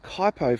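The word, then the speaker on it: Kuitpo: way bran you've got kaipo Forest which is spelled k-u-i-t-p-o quiet coyote PO for those who don't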